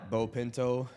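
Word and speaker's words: Beau Pinto: Bo Pinto, B E AU, spelled like beautiful, pronounced like bow tie and pinto like the car, the bean, and the horse.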